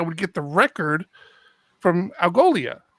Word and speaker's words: Algolia: And when I log into the Algola, am I saying that right? Algola? Algolia.